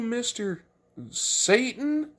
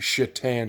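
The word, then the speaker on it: Šatan: the woman asked his name's like are you mr satan it says actually it's pronounced shitan she's like oh like the hockey player and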